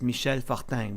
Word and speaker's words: Michel Fortin: So I decided to keep that as a nickname, and now I call myself Michel Fortin, although my name is pronounced Michel Fortin, which is a very French-Canadian name.